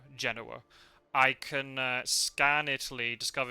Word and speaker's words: Genoa: If I can get Gadami and Mina to Genoa, if that's how you pronounce it, right? Yeah, not Genoa, Genoa.